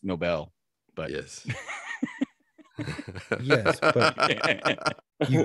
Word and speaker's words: Nobel: I believe it's pronounced Nobel, but yes. Yes, but you get that by the joke. No, I mean literally the way it's spelled, if you're reading it, Nobel. Like Alfred Nobel.